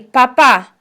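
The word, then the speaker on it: papá: el padre or el papa in padre repeat el papa repeat and again you have the accent on the second a so you have to make sure that you accentuate that sound in papa now in the situation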